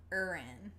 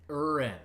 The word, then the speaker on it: Aaron: Aaron I think it's Noble? pronounced Urin. Urin. Yeah, That's Urin.